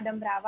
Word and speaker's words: Dumbrava: uh associate professor dambrava i hope i'm pronouncing your surname correctly is that the pronunciation yes it's a romanian name